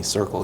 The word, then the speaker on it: Sirqul: do and that's why we named the company circle even though it's spelled funny yeah it means it's